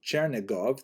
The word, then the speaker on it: Chernigov: And there's another, Isaac of Chernihiv, sometimes recorded as Isaac of or Yitzchak of Chernigov, that would be the Russian pronunciation of the same place, also a 12th century